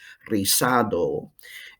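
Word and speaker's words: rizado: risado curly no buzzing z in spanish is pronounced like an s risado and of course you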